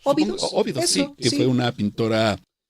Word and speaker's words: Óbidos: El de Josefa, ¿cómo se pronuncia este? Óbidos. Óbidos, sí, que fue una pintora de origen portugués.